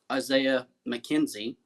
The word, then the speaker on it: Isaiah McKenzie: Wide receiver Isaiah McKenzie, and I pronounced that right because last week I got